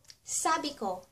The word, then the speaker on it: sabi ko: I said ----- Sabi ko ----- Sa bi ko Sabi ko ----- I said ----- And for example, or halimbawa, I said you're beautiful.